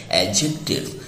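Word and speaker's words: adjective: और दोस्तों ये चौथा पार्ट ऑफ स्पीच है जिसको हम कहते हैं एडजेक्टिव। और इसमें ड को हम प्रोनाउंस नहीं करते हैं, आप देख रहे हैं हिंदी में यह लिखा हुआ है एडजेक्टिव।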